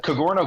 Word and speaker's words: Cogorno: you know so the kagoro golf c g o r n o um it's pronounced kind of like a Douro pizza but with a c kagoro golf that way you